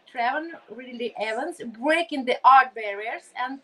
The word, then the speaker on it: Travon Ridley-Evans: But for now, it's just first of all, I would like to be sure that I pronounce correctly your beautiful name, Travon Ridley-Evans, right?